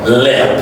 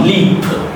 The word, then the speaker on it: lip: It's not leap. Okay. Otherwise if you say leap l e p o or l e a that become leap and if you pronouncing it le so it will be so confus confusing for your listeners. So to make it more cloudy you say lip.